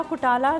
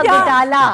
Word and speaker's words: घुटाला: नहीं है, अंडा घुटाला। घुटाला होता है।